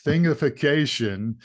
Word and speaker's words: Thingification: I didn't mispronounce that, or maybe I did, but it's Thingification.